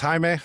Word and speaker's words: Jaime: Uh, so my name is Haime. I'm actually Mario's, uh, dad. Uhhuh. Um, Haime Haime. Yeah. It's crazy because a lot of people uh spell it with an H.